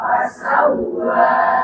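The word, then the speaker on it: فَسَوَّىٰ: Alladzi khalaqa fasawwa. Nah, di sini juga ada tasydid di waw yang bacanya sama dengan ba, dihentakkan, hentak langsung. Fasawwa, silakan. Fasawwa. Jangan dilamakan, banyak yang keliru.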